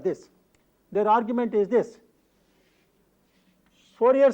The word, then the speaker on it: Fourier: a French mathematician administrator the fridge probably pronounced his name is Fourier but in common with the usage in english-speaking countries we refer to him as Fourier so Fourier when you